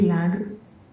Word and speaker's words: Milagros: It's me Milagros. You know my name is weird. People always mispronounce my name. It's Milagros. Milagros.